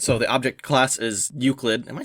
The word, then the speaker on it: Euclid: Alright, so the object class is Euclid. Am I saying that right? Is that how it's pronounced? Yeah, it's Euclid, yeah.